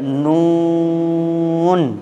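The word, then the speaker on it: نون: কিন্তু যখন আপনি এই অক্ষরটা উচ্চারণ করতে যাবেন তখন আপনাকে একটু লম্বা করে টান দিয়ে উচ্চারণ করতে হবে। চলেন এবার এই অক্ষরটা উচ্চারণ নিয়ম শুনবো আমরা। এই অক্ষরটা উচ্চারণ করতে গেলে জিভের আগা অপরের দাঁতের গোড়ায় লাগবে, জিভটা আবার ফিরে আসবে, আবার লাগবে। জিভের আগাটা অপরের দাঁতের গোড়ায় লাগে, জিভটা ফিরে আসবে, দ্বিতীয়বার আবার লাগবে এবং উচ্চারণটাকে লম্বা করতে হবে।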